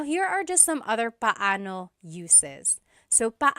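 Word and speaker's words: paano: It's technically pano. Pano when there are two vocab or when there are two vowels together, you say them separately. Pano. But when speaking quickly, Filipinos just say now let's practice using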